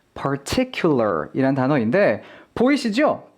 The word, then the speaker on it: particular: 이거보다 조금 더 어려운 난이도의 단어는 바로 이 particular 이란 단어인데 보이시죠? particular 이라고 해서 R과 L이 마구 섞여 있습니다.